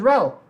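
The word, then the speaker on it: Rell: My name is Rel. How do you spell that? R-E-L-L. Cody, like rel phone.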